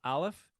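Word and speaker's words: אָלֶף: is this one here which is pronounced uh the name of the uh letter as Alf and this is a glottal stop so this actually doesn't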